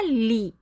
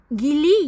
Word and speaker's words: gli: ہے جی ل ای۔ ہمارے بہت سے پاکستانی بھائی بہن شروع میں اسے گلی یا گلی پڑھ دیتے ہیں۔ یاد رکھیں اٹالین زبان